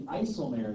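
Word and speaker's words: IJsselmeer: The Isselmare is actually really close. Isselmare, that's how you pronounce that.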